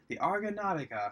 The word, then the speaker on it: Argonautica: It takes place on this cruise ship called the Argonautica, the Argonautica. That's the way it's pronounced.